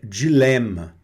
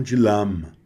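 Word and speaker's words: dilemme: E aqui é dilema. Dilema, que quer dizer dilema, tá certo? Dilema, tá bom? E não dilama.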